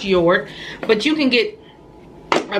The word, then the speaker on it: Jord: a J on it even though it's your it's even though it starts with a J it is pronounced your but you can get